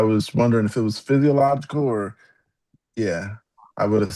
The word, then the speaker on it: physiological: I know the last part is logical. Is it physiological?